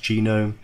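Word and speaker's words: GNOME: a KDE environment or genome I know it looks like known but the section pronounced genome many others and these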